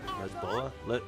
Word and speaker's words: Lisboa: of Portugal into au leboa. Uh, Leboa is is how you say it in in Portuguese.